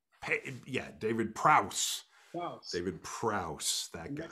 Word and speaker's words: Prowse: David Prowse. Yeah, David Prowse.